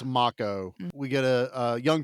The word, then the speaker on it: Mako: It's Yeah, it's spelled like Mo, but it's MCCO. It's Makco.